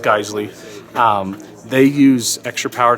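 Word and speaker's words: Geissele: geisle triggers excellent trigger people call them Jazelle you know whatever it's actually pronounced geisle um they use extra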